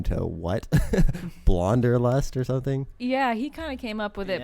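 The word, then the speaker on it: Blahnderlust: up with it but it's more so like wanderlust it spelled really weird it's spelled like blah blah blah like blah and then blah is like mixed with wanderlust so it's blonder lust so it's b-l-a-h-n-d-e-r lust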